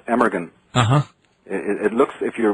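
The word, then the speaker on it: Amergin: his name was aahan which is is actually pronounced emeran uhhuh it looks if you're reading it emeran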